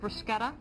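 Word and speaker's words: bruschetta: out that's not authentic brusketa well no and lady fingers aren't made with ladies fingers it's a metaphor yeah exactly all right so but but Italians pronounce it brusketa yes okay all right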